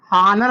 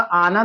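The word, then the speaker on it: honour: ठीक इसी तरीके से अगला वर्ड हमारा है हानर। लिखा हुआ है लेकिन उच्चारण जो इसका होगा आनर होगा, और जब आनर होगा तो यह इसका मतलब हुआ कि साइलेंट है, इसको लिखा जाएगा लेकिन पढ़ा नहीं जाएगा, और जब लिखा जाएगा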